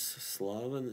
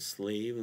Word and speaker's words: Slaven: name a little bit my real name which is slavin and some I guess English speakers say slave you they pronounce it slave so it's almost the same slav slave and uh yeah and yeah